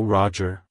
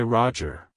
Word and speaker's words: Roger: history it's pronounced as Roger Roger Roger to pronounce it correctly emphasize the first syllable R OJ and then quickly move to the sound at the end like hello Roger goodbye Roger if you found the